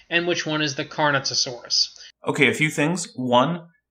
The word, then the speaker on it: Carnotaurus: Do not insert new syllables into a word. It's Carnotaurus.